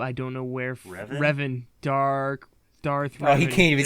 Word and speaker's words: Revan: them there's only one who's truly my favorite Raven comes to mind but I don't know where forever Revan dark Darth he can't even say it right